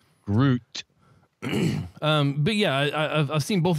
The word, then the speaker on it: Groot: I have to like accent emphasize the t sound at the end. Groot.